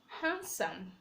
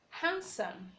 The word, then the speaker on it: handsome: have other words like handsome handsome sandwich sandwich the D is silent silent e you have